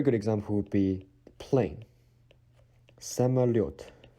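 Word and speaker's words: самолёт: Самолет. Самолет. Every time you see yo with little two dots on the top, the stress sound is always on this letter.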